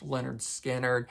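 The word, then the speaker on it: Lynyrd Skynyrd: uh the debut album which is called pronounced Leonard skinnard I think I could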